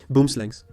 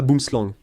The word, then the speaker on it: boomslang: Ça ne se prononce pas boomslang, ça se prononce boomslang, ou peu importe, n'est-ce pas ? Je ne le dis pas comme ça parce que je n'ai pas l'accent sud-africain.